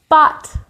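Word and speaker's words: bat: Bot. For bot. It sounds like the end of robot.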